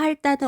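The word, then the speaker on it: 핥다: 자, 훌따와 할따는 어떻게 발음해야 할까요? 쌤이 뭐라고 발음했나요? 그렇죠. 앞자음 리을로 소리 나죠?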